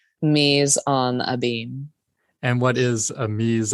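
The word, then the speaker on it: mise en abyme: to say the title Ms and a beam Mees on a beam and what is a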